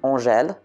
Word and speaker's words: Angèle: In France, the name Angèle, that's how we pronounce it, has two spellings, a male one and a female one.